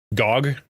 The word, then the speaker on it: GOG: Gogg. Yeah, there you go. Pronounced GOG.